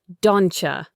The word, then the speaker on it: don't you: The T and the Y sounds blend together to create a ch sound like in the word cheese. So, don't you becomes dona.